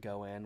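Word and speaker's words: 五円: I think I might have one in my wallet because the five yen is pronounced like goen which also means I think like fate or luck.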